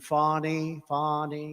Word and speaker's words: Fani: local attorney generals and Fani, you know, Fani spelled F-A-N-I. My name is Fani, F-A-N-I. I don't figure it. You put a little French accent on the word.